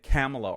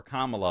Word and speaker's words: Kamala: um and he said camela or Kamala or something like that Des santis said and then new oh how dare you mispronounce his name now if you guys recall Kamala Harris mispronounced her name she said camela one time she said Cala another